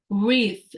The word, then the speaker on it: wreath: e a t h so you write like that but then you just say with and then remember because has th sound so you just put your tongue between the teeth and then you say with with okay the next word